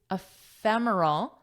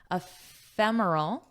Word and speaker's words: ephemeral: Ephemeral. And what do you notice about my pronunciation here? Ephemeral. Ephemeral. So it's pronounced as an F, ephemeral.